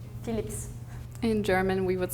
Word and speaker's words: Philips: but I would not, since in French language, when you have an S at the end of the word, you never pronounce it.